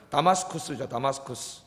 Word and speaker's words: 다마스쿠스: 여기 지금 바울이 이 잡으러 가는 다맥색, 원래 이제 우리말로 다맥색 그랬는데, 원래 이제 다 소리난 발음 하나 읽으면 다마스쿠스죠.